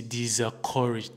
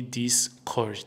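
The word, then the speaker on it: discouraged: eu queria é aquele dissecourage me. Como que muitas pessoas me desencorajar a vir. A pronúncia não tá nada boa aí. A pronúncia certa seria na direção de discoured me. Discord me.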